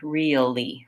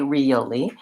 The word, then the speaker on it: really: trying to say really you can work on just real first I'm kind of breaking it down going slowly real like it's two syllables and then you can add the e really really but for many people including myself we don't really say really that way really we say it more like this really really so that